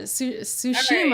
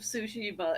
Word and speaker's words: Tsushima: be like, Ghost of Tsushima, and I'm like, it's not what it is. There is a T there at the beginning of the word, which means in Japanese you pronounce that, but it's followed by an S sound.